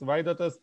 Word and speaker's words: Vaidotas: very briefly yeah sure so my name is vaidatas i saw that some users were asking how to pronounce my name so here you go it's vaidatus i'm from lithuania yeah so basically i'm a